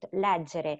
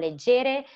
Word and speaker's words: leggere: If you put leggere in Google Translate and you click to hear the pronunciation, they will say leggere. So you will know that it's not leggere, but it's leggere.